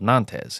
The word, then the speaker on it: Nantes: It's spelled Nantes. At least it looks like it, but Nantes, France.